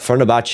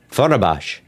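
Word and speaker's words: Fenerbahçe: Fenerbahce. I didn't read it with the T. There's no T in there. I didn't read any T. I believe. Fenerbahce.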